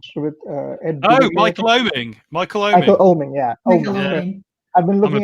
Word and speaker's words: Oeming: Michael Oeming, yeah. Oeming. I've been looking at Michael Oeming's work a lot, and Darwin Cook, of course,